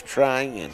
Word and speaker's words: Trion: twice today's training it's trying okay well I've been wrong for yeah you've chosen yeah that I've had a couple of texts it's T ry I in try in is how it's pronounced alright I learned something